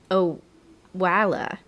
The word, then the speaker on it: Owala: Oh, it's actually, I had to Google the pronunciation before we started this. It's, I believe, Owala.